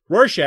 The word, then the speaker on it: Rorschach: Rorschach. God damn it. Rorschach.